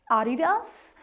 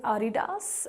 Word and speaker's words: Adidas: But if you want to go by the correct German pronunciation, which this brand actually is, it is Adidas, with no typical focus on a particular syllable. It is Adidas.